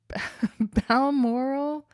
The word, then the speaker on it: Balmoral: Wales a separate country I gotten a lot of trouble for pronouncing Bal Bal moral as Bal moral balm moral Balmoral I think that's it but that like